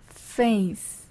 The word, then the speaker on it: face: 페이스 페이스라고 하죠 예 근데 페이스 영어로 페이스는 pa 맞 p p 발음이에요 그러면은 완전히 잘못된 소리가 되는 거죠 그래서 F 바름은 길게